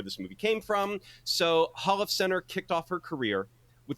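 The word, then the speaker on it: Holofcener: My Feelings written and directed by Nicole Holiffson Holofcenter. I think I'm pronouncing that correctly.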